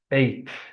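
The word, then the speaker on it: eighth: No, we're gonna replace T by the TH sound. 8th, 18th, 28th, 38th, 48th, 58th, 68th, 78th, 88th, and 98th.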